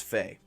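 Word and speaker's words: ف: one's a familiar sound it's Fae like Tina Fey then of course is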